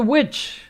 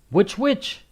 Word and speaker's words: witch: give this to the witch and then you say which witch but the pronunciation is the same can you give this